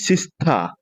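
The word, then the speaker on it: sister: আরো থাকবে আর যদি আর এর পরে যদি কনসোনেন্ট থাকে তাহলে আর সাইলেন্ট থাকবে তাহলে মাই সিস্তা সেলস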